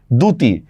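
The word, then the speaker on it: দ্যুতি: আচ্ছা শব্দের প্রথমে জফলার সাথে রসু বা ও থাকলে জফলার উচ্চারণ হয় না।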